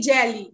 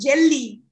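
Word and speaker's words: jeli: for griot is jelly so it's better say jelly jelly jelly okay am I right am I writing the accent jelly yeah jelly yeah that's the right accent yes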